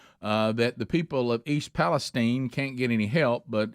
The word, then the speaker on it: East Palestine: That's how you say it. East Palestine, not Palestine, East Palestine.